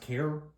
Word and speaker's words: KAER: safe, but this company, I believe it's pronounced KAER World. It's K-A-E-R, so KAER World.